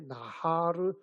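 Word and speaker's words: נהר: 나할이라고 하는데 요단강은 발음이 비슷한데 나하르 야덴이거든요. 하르와 나하르 달라요.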